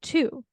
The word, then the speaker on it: Thu: and more Vietnamese Americans a lot of the people with my name say two that sounded like the number two and I was like